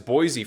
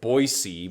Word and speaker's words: Boise: a steelheads game uh because boise for me or boise but you know it's just more phonetically logical to say boise i think but anyway boise is